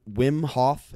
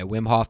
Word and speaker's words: Wim Hof: talking with the win wim HOF is that how you pronounce it yeah wim HOF method we breathing technique